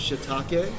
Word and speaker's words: shiitake: they're so awesome yes how many people it's pronounced shiitake Japanese 101 don't be embarrassed y'all got the